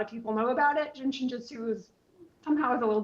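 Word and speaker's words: Jin Shin Jyutsu: people know about it, Jin Shinjutsu is somehow is a little bit obscure. So the first word is jin. J I N. It's pronounced like the drink. The second word is shin.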